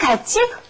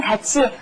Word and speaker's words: 같이: And our next line is, Lisa says, 누구랑 같이? With who? 누구랑 같이? Be careful with the pronunciation.